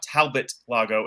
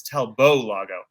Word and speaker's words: Talbot Lago: and said no no it's not Talbot Lago it's talbo Lago I was like oh